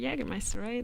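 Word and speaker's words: Jägermeister: home and my stepfather is uh mislived jagermeister jagermeister that's how you say it yeah just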